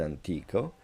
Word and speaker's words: antico: is monument antiki why because the accent in the word antico falls on the second to last syllable.